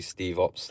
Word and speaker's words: Stevops: At first, my name on here, Steve Ops, was meant to really be pronounced Stevops. But yeah, I don't really care. People call me Steve Ops, Stev Ops.